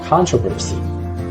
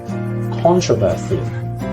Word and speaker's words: controversy: 16 in American English this one is controversy in British English this is controversy or prophecy controversy controversy so as you